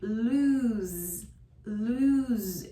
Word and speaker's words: lose: Lose is a verb. It is pronounced with a voiced Z sound. Lose, lose.